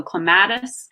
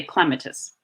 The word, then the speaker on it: clematis: or short so if in the US we tend to pronounce vowels long so clematis whereas in England vowels are pronounced short so you would say clematis which changes the emphasis